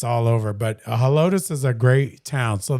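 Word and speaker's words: Helotes: Helotus. Helotus.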